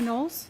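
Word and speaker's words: Knowles: My name is Nolles. My last name is spelled K N O W L E S.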